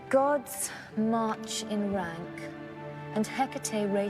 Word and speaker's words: Hecate: Um, how do you pronounce it? Hecate.